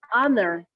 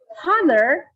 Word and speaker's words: honor: example of silent age it's supposed to be this is to honor someone so hunter there is supposed to be silent age so other so if